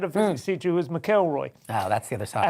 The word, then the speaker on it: McElroy: Hello, and McElroy. Good evening. I wrote that out properly on the autocue, so with the emphasis on the first half, but I managed to